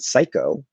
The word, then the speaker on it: psycho: origin like that um that we just say with an s they're coming expo with